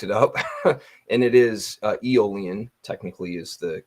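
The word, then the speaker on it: Aeolian: eolian for the longest time I used to pronounce it aolan until I looked it up and it is eolian technically is the correct pronunciation so um you're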